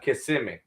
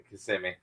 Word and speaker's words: Kissimmee: Yeah, they'd be kissing me, and I'm like Kissimmee. No, So, Kissimmee. Kissimmee. I wouldn't have known that. Yeah, no, they'd be like Kissimmee. It's spelled just like it, but it's Kissimmee.